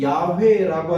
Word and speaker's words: 야훼: 그래서 유대인들이 좀 편리상 모음을 만들면서 아도나이의 모음을 이 YHWH에 첨가하여서 부르게 됐는데 그 유사한 발음으로 예상되는 것이 야훼입니다. 그래서 이 야훼라고 하는 추정되는 음가를 영어권에서는